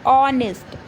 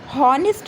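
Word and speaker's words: honest: इसमें एच हमेशा क्या होता है? साइलेंट होता है। तो इसको बोला क्या जाता है? ऑनेस्ट।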